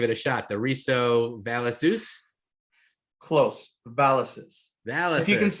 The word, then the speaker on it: VALEZUS: The RISO Valezus. Close. Valezus. Valezus. If you can say Pegasus, you can say Valezus. Well, if you pronounce it right, I hear you get a free one.